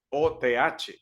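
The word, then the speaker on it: אות: la palabra griega ot o th es el las letras hebreas que ve Allí se pronuncia ot así Simplemente y significa una señal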